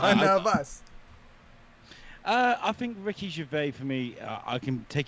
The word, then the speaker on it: Gervais: They Ricky say Gervais out here. Gervais, Gervais. not Wait, is Gervais. he French? Ricky No, Gervais. yeah. In England they got that Ricky Gervais. Ricky Gervais. Gervais. Get that S out it.